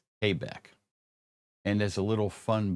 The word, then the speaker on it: Quebec: It's not pronounced on the radio Quebec. It's pronounced Quebec.